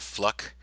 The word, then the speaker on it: Fluke: Do you remember Sandra Fluke? Rhymes with Fluck.